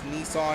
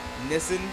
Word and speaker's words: Nissan: It's kind of like how people in the UK also pronounce Nissan as Nissan. It's a country difference.